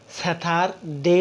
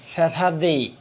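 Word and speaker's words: Saturday: আমরা আগে স্যাথার দেই উচ্চারণ করেছিলাম।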